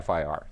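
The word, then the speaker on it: FIR: last time you never you don't pronounce this as an acronym fer you say fi are that's the that's the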